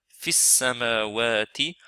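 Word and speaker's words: فِي السَّمَاوَاتِ: Ce mad là il saute parce qu'il est suivi par shadda. Donc on le prononce pas. On va directement de fa avec kasra vers sin avec shadda et fatha.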